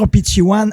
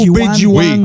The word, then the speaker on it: Opitciwan: prononciation. Ouais. Tu peux y aller. Ben, on parce peut que dire Opichiwan en langage Oui. atikamekw ou encore ok. Obejiwan.